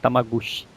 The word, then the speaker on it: Tamagotchi: Aqui no Brasil o pessoal chamava de Tamaguchi. Essa pronúncia, né, de Tamaguchi.